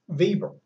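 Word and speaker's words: Weber: evil by the way spelt w/e ber but he was German and that their w's are pronounced like our v's so it's max Bieber now he was the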